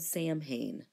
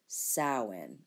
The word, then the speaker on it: Samhain: looks like it's called Samhain it is not it is actually pronounced saawan this is in the Celtic language so do not expect the letters you see to sound like the phonemes that you here okay